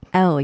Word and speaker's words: Elle: Is that how they pronounce it? Elle? Elle, yes. Elle.